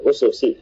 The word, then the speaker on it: أسس: Bahwa ibaratun anil manahiji wal asas wal ususi. Ya, tadi Anda baca asas ya, Mas Reza? Nah, ususi jamaah. Ya, kalau asas nanti ada alif setelah sini kalau tidak ada alif berarti bacanya usus, yaitu bentuk jamaknya.